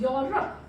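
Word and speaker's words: Europe: फिर अब क्वेश्चन आ गया कि मैम अभी तो आपने बताया कि ई की साउंड, तो बताया ना ई, यूरोप। साउंड इसमें ई साइलेंट है, यूरोप की साउंड आ रही है, मतलब यू की साउंड आ रही है।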